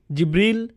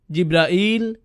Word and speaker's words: জিবরাইল: উচ্চারণ করেন তার নাম জিবরীল জিব্রাইল জিব্রাইল জিব্রাইল জিবরীল এই পাঁচ ভাবে তার নাম উচ্চারণ করা হয় আর এটা বিভিন্ন কিরাতের